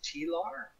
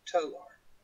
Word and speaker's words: Tolar: One person, I'm not going to say who, thought, so this character's name is Tilar? Mm-hmm. No, it's Tolar.